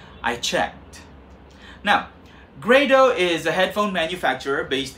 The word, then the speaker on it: Grado: called sure okay but not many people have heard of the name grade oh yes it's pronounced great oh I checked now Grado is a headphone manufacturer based in Brooklyn where